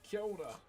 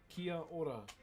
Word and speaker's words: kia ora: So you go, kia ora. Kia ora.